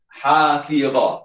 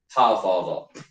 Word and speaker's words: hafizah: Hafizah, dia bacanya hafizah, bukan hafazah.